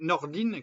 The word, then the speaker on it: Nordin: donne Carla Bruni et Charlotte Nordin qui se dit Nordine qui s'écrit Nordin qui se dit Nordine Charlotte Nordine entre Tony estangé et